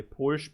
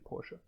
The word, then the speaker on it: Porsche: uh and porsche yeah that's that's how you actually say it in german by the way you say porsche i know in gym in english they always say porsche but in german it's actually porsche germans love their porsche